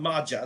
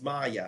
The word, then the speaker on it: Maya: So understand that that's not Maja, that's Maya.